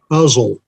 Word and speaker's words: Uzzel: Uzzel. Uzzel? Huh? Correct. Like muzzle without the M?